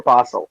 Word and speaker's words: Basel: Is it Basel or Basel? Am I not pronouncing it I correctly?